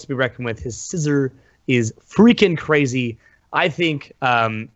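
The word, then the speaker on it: Scizor: His scissor. Thank you, Pokken. That's the official that is the official pronunciation, you guys.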